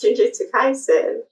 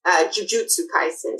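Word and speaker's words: Jujutsu Kaisen: Is it jiu-jitsu like the martial art jiu-jitsu or is it just phonetically it sounds like it? I think it sounds like it. I I like interchange it. But it's it's jiujutsu kaisen techally. Okay. Not jiu-jitsu.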